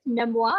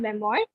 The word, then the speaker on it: memoir: of his life but Memoir is again a French word so that's why we pronounce it like this Memoir and it's not Memoir it's from the memory